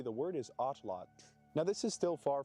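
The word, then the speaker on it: Náhuatl: You do not pronounce the L at the end of the word as a syllable. So, pronounced correctly. The word is atlot.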